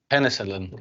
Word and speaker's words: penicillin: so in this case write them as double letters as Double L but pronounce them as only one L so it's V don't